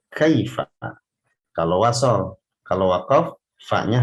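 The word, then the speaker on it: كيف: Tapi kalau sudah baca Quran, jangan sampai kita membacanya kaifa, ini sama bunyinya dengan air, kaifa, air. Tidak seperti itu. Kaifa. Fa-nya itu diucapkan dengan fasih. Caranya dengan menempelkan gigi seri atas, ya.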